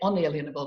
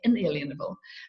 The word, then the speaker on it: inalienable: The Americans say unalienable, we say inalienable.